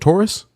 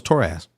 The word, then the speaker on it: Torras: LaShawn, is it Taurus? Is it Taurus? I thought it was Torras.